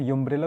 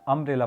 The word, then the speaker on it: umbrella: तो इसको हम यूम्ब्रेला तो नहीं पढ़ रहे हैं ना, अम्ब्रेला पढ़ रहे हैं।